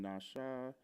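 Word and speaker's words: נָשָׁא: and with it, I can't read the symbols, but we've got part of speech, verb, transliteration, nasha, pronunciation, nasha.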